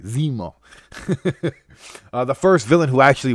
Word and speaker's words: Zemo: these comic book creators which is awesome it's pronounced Zemo not zimo Zemo right I said it right Zemo the first villain who actually want facts yes